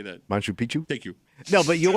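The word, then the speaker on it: Machu Picchu: t Manu picu how do you say that Manu Picchu thank you no but you are living isolated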